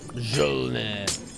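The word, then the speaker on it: Mjölnir: So it might be Mjolnir, maybe. I've seen it on a Fruit Machine. That's the only way I'd know that. Oh, it's Jonathan. Oh, interesting. Interesting. Don't pronounce the J.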